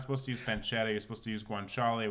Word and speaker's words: pancetta: okay go on so you use you use pancetta is that how you say it yeah